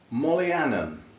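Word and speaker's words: Mohlianum: Mollianum, with an H, which I assume is silent. M-O-H, Lianum.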